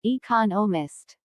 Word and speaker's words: economist: smith is an economist notice the stress on economist this content word has new information so it is emphasized there are four syllables in economist with the stress on the second syllable economist he just finished writing